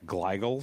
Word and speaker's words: glial: I'm going to totally mispronounce this word, but I think it's called glial cells.